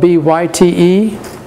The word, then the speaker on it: byte: It's spelled B-Y-T-E, but it's pronounced byte as in have a byte.